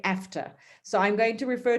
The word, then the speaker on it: AfCFTA: so i was like do i say aceta after um a ifcta and i was told that i can say after so i'm going to